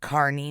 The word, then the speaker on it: Kearney: 30 minutes away and apparently they pronounce it carney new jersey but it's spelled kearney so that's how we're